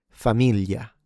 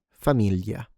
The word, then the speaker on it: famiglia: famiglia famiglia family moglie moglie wife aglio aglio garlic How did you like that?